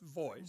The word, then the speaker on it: Voice: It's it's pronounced Voice. Voice. Okay. Just like Voice.